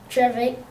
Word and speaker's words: Trevithick: Look at the pronunciation here. Trevithick.